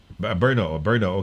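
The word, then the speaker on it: Brno: Jay Briggs watching from Brino. Brino ba? How do you pronounce it? Brino? Berno? O para how do you pronounce it, Ambassador? Ha? Berno.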